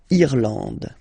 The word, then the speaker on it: Irlande: Okay, A-N, en, D, and final E, not pronounced. Irlande.